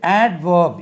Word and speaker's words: adverb: இது adverb, ADVERB, adverb. சார் இங்கே டி உச்சரிக்கக்கூடாதுன்னு சொன்னார், அதனால் இதுலேயும் உச்சரிக்கக்கூடாதுன்னு சொல்லி அவர்ப்னு சொல்லாதீங்க. இந்த இடத்துல டி உச்சரிக்க வேண்டும்.